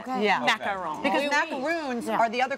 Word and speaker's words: macaron: I don't Is it macaroon, macaron? Macaron. Macaron. Yeah. And you have to Okay. So you don't say the N? macaron. I mean, commit to the French accent. Okay. Yeah. Macaron.